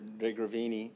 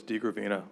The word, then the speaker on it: DeGravina: Through the chair, Commissioner DeGravini, hopefully I'm saying that right. It's close, it's DeGravina, but DeGravina, I'm used to sorry.